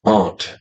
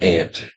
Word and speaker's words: aunt: what was the question ant is pronounced Aunt not ant yeah it's not directed